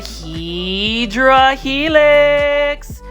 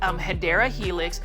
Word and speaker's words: Hedera helix: And you can see right here, we've got a Hydra Helix, or the correct way to say that is Hedera Helix, or English Ivy.